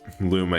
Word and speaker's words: Luma: like, the first feedable Luma you get. Just because, like, that first section died a ton to it. Oh. It's a bitty. So according to Smash Bros, you pronounce it Luma.